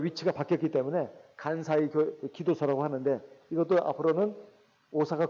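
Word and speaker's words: 関西: 관서를 일본말로 간사이라고 한답니다. 간사이. 제가 일본말을 잘 몰라서 제가 이게 보니까 관서를 일본식으로 일본 발음으로는 간사이라고 그래요.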